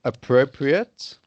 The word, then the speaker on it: appropriate: right yes legitimate yes so whenever you see uh ate at the end and it's either a noun or an adjective then it's ut okay yes and when